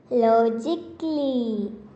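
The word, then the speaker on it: logically: In a word, the letter A, which comes immediately before the letters L, L, Y, is silent.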